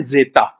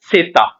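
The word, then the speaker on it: zeta: जेड का जो Spanish name है वो होता है जेता, बट इसकी प्रोनाउंसिएशन होती है सेता। स की साउंड आती है इसमें हमेशा। जैसे इंग्लिश में 26 अल्फाबेट्स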